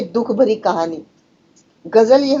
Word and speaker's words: ग़ज़ल: के दुख भरी कहानी ग़ज़ल उर्दू अरबी शब्द है और इसका उच्चारण होना चाहिए गजल गजल गजल गजल इस तरह से चाहिए ए गजल कविता का